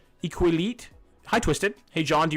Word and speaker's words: Iqaluit: It's Iqaluit.